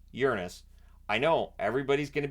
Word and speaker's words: Uranus: it is technically pronounced Uranus I know everybody's going to be giggling but it is technically pronounced that way so Voyager one and